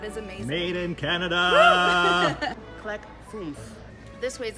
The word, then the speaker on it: Clek Foonf: Okay, the next one is not so easy to pronounce. It's the Clek Foonf.